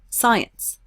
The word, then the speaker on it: science: root ecology in etymology science highlight the root SCI and science even though there's a C we don't pronounce the C we say science not